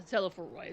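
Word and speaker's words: Telophoroi: The Teleforoi is how you say it.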